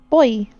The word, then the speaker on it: buoy: Boy.